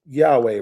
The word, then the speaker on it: Yahweh: So YHWH, that's Yahweh, right? Yeah, that's in the noun form. Yeah, that's some people pronounce it that way. Some people say Yahuwah.